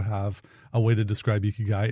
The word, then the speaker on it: Ikigai: For those of you in America, you can pronounce it Iki or Icky Guy. That's not how you say it. It's like Iki. Like if you're trying to say like Pikachu, it's Ikigai. Very good.